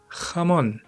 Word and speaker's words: jamón: 2, it has a final syllable stress, which just sounds really nice in Spanish. 3, I really love the pronunciation of the Spanish J.